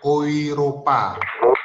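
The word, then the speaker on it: Europa: Kalau EU itu dibaca menjadi OI. Jadi Oiropa.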